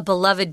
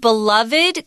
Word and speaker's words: beloved: that Taiwan lost a beloved talent on June 10th this word beloved could be beloved it beloved or beloved the pronunciation is correct both ways beloved beloved so if